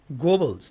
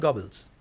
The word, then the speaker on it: Goebbels: I mean, Goebbels, not Gobbles.